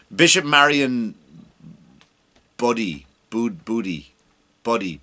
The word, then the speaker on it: Budde: Marian buddy Bo booty Buddy b u d d e how you that bud just along the D and the E is silent uh buddy we'll call